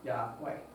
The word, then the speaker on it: Yahweh: letter substitutes yeah so most hebrew language scholars believe it was most likely pronounced as yahweh now quickly look at exodus chapter 20.